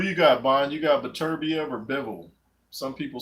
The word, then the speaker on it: Beterbiev: You got Beterbiev or Bivol? Some people say Beterbiev. I think it's Beterbiev. Beterbiev doesn't sound right. It's the wrong emphasis on the wrong syllable.